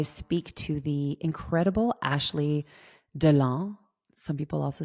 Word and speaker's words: Deland: Well, hello, Ashley Deland. I'm going to say it en français because it's supposed to be pronounced en français, although I've heard a lot of people butcher your last name.